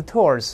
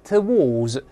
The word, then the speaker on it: towards: 后面加一个介词 towards，我说过英国人可以读成 towards，两个音节 towards，但美国人的这 w 不